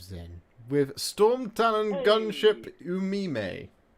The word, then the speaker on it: Umime: So, moving on now, we have the Knight of Zen with Storm Talon Gunship Umime. I'm guessing it's pronounced that way rather than you meme. Rather than like you meme, bro.